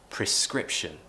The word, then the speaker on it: prescription: the issue is that people remove the r and pronounce a schwa sound and it kind of